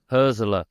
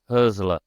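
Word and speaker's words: Hürzeler: Herzler, by the way, Herzler. That's how you pronounce his name.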